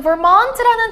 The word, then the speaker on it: Vermont: So, Vermont라는 단어는요, Vermont 하고 Mont에다가 액센트를 주시는데, 실수로 잘 몰라서 Vermont라고 읽었다고 해도 크게 감점이 되는 요인은 아니니까 자신있게만 읽어주시고요.